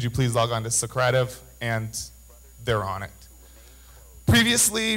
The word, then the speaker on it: Socrative: called Socrative I just found out that it's pronounced Socrative last night um the last five months or so I've been calling it Socrative so all of my students have heard it